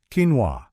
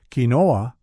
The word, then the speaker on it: quinoa: Quinoa, that's quinoa for those of us who've been saying it wrong at the grocery store.